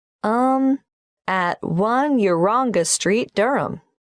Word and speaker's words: Durham: how do you spell durham d u d-u-r-h-a-m of course i should know that but it's just one of those names that sounds quite different from the way you spell it it is confusing i've